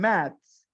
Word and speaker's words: maths: One is with the TH and the other one is with an S. La que termina con TH, Shira, usted la va a pronunciar como Z, math. La que termina con THS, la va a pronunciar con una ZS, maths, maths.